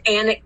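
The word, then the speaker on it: Alnwick: potter fans make the pilgrimage to anik castle and it's spelled onwick and they have a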